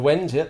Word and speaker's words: Wends: Slavic tribespeople known collectively as the Wends. Have I pronounced that correctly? The Wends, yep.